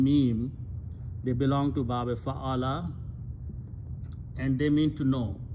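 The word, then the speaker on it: فعّل: In bab number two, we just put a tashdeed or shadda on the middle letter, which means we are repeating the ayn two times. So it's pronounced fa'ala.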